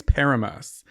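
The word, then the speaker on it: Paramus: in New Jersey what's how's it pronounced because I said it wrong at Caroline's house and everyone laughed at me I think it's paramas paramas paramas p a r a m u s comma NJ have you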